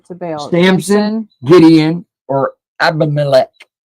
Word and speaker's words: Abimelech: Samson, Gideon, or Abimelech? How do you say it? Sounds like Heimlich. Abimelech.